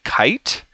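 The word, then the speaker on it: Kaight: um so this was done by kite that's k-a-i-g-h-t very interesting and Pharaoh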